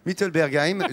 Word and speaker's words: Mittelbergheim: mittelbergheim j'ai bien prononcé défi nous pas ça va oui merci mittelbergheim donc cela remet un petit coup ça fait